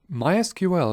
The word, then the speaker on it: MySQL: a fully functional MySQL database server in Azure mysql is a popular open-source relational database management system and yes it is in fact pronounced mysql if you have ever heard of